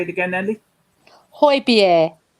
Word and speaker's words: Højbjerg: Here comes Højbjerg's Harry.